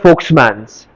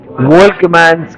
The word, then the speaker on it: Volkmann: उसको actual pronounce करते हैं फोक्समैन्स, लेकिन हम लोग सांगली में क्या बोलेंगे उसको? वोल्कमैन्स कैनाल.